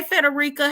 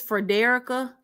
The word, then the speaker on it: Frederica: I've been saying her name wrong the whole time, and I watched one of her videos that her and her husband did. And when she said her name, I said, now why my good sis been letting me say her name?